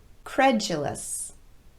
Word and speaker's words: credulous: fraudulent the company was accused of fraudulent practices credulous credulous a credulous person will believe almost anything